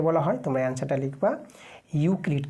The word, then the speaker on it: ইউক্লিড: কিন্তু মনে রাখবা তোমরা ঠিক আছে মনে রাখবা ইউক্লিড এখানে যদি ইংরেজিতে তোমাদের লিখে দিই ইংরেজিতে নামটা উচ্চারণটা হবে ইউ ইউ ক্লি সি এল আইডি ইউক্লিড Bangla লিখতে পারো ইংরেজি লিখতে পারো যেটা তোমাদের সুবিধা হয় সেভাবে তোমার নামটা লিখবা।